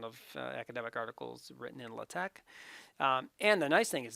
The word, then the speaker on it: LaTeX: latak and it's spelled like that it's not pronounced latex it's latex now and the t is capitalized the x